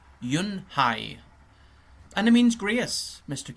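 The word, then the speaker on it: Unhei: turned to Joy she nodded slowly yes it's pronounced Yun high and it means graas Mr Kim added Yuni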